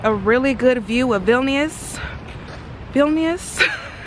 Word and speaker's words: Vilnius: want to see a really good view of vilnius vilnius it's sad that i'm here y'all and i'm still struggling to pronounce the name but vilnius um we want